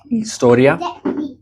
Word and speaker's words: historia: And then H, as we mentioned, is silent. Hielo, historia.